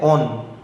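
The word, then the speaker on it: -one: represent না ওন থাকবে ও এন ই ওন প্রোনাউন্সিয়েশনটা হচ্ছে ওন ও এন ই ঠিক আছে তো এই ওন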